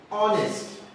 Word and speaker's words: honest: There is consonant letter H, but it is not pronounced. It remains omitted. So we pronounce this word as honest.